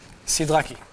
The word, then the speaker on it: Sidlecki: He said the second way you pronounced his name was correct. Nice. I think that was with the hard E. Sidlecki.